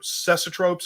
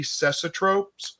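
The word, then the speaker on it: cecotropes: seeing it may be cesotropes uh which i think is how you pronounce it anyway it's kind of spelt like it sounds c-e-c-o-t-r-o-p-e-s you can kind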